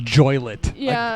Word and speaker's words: Joliet: Jimmy Hoffa's bear it's pronounced joy lit I can tell you